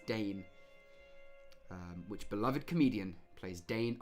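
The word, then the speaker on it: Dain: D-A-I-N. Someone let me know if I'm mispronouncing that. It's Dane.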